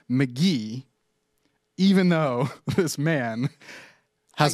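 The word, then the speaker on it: Mk.gee: GE great album I've been listening to it a lot check that out Joe apologize it's pronounced McGee you keep saying Kahan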